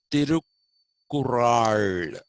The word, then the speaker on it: Thirukkural: Now, he is known only for one work, which is actually called the Thirukkural. That's how you have to pronounce that.